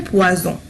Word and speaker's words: poison: Regardez, poison, poisson. هنا لفظناها ز وهنا لفظناها س. لماذا؟ لأن هنا لدينا un seul S وهنا لدينا double S. يعني un seul S va changer la prononciation et aussi la signification.